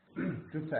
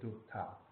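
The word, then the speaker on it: གྲུབ་མཐའ: Dupta, at least dupta as a 2 syllable here, dup and ta.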